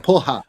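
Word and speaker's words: porra: You say with an H, like poha.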